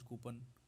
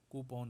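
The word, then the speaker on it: coupon: कुछ लोग इसको कूपन कूपन कर देते हैं, रिचार्ज कूपन। ये एग्जैक्ट इसका प्रोनाउंसिएशन कूपन होता है, कूपन।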